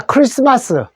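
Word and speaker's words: Christmas: 자, 크리스마스. CH가 소리입니다. 리스트마스. 크리스트마스에서 트 소리가 묵음 소리 안 냅니다. 그래서 크리스마스라고 하면 되는데 말을 어로 읽어 주십시오.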